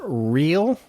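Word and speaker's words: Rhyl: Real, R-H-Y-L.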